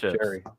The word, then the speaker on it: Jerry: I say it right now because he said, think of Jerry Lewis. And that's what I just did. So thank you, Jerry. It's not Gary anymore, it's Jerry.